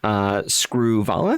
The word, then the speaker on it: Screwvala: Did I pronounce that correctly? Anurag. Apologies. And produced by Rani Screwvala.